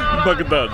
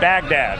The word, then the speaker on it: Baghdad: And I'm working on my pronunciation of Baghdad. Baghdad. It's not Baghdad. I learned that.